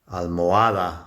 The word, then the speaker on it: almohada: La almendra, men, is the strong syllable, and almohada, it's the A towards the end, that's a strong syllable.